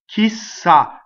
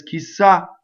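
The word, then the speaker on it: chissà: that phrasal doubling so the word key is a strong monosyllable this is putting together two words key who and who knows right saw she stopped because everybody says kisa right ideal goodbye farewell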